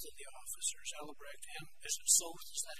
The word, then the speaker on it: Soth: We get pretty unambiguous testimony from both of the officers, Ellebrecht and Soth, is that how you pronounce it? Soth, yes.